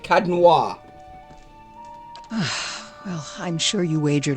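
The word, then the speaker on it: Caed Nua: It's Cadnoir. That's how you say it, Cadnoir.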